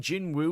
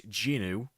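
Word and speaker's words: Jinwoo: It's technically only three times, but yeah, considering Jin Wu was it's not actually pronounced that way. It's Jinu, the W silent.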